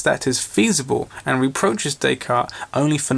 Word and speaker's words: Descartes: quantity and relation sorry it's pronounced Descartes the S is silent some French stuff the difference between two